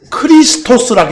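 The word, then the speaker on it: Χριστός: 크리스토스라고 해요.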